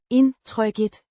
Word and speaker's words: indtrykket: Noun meaning impression or feeling, pronounced Indtrykket. similar to indtrykket. The K. in Tryk. is a soft K. like in the word cake.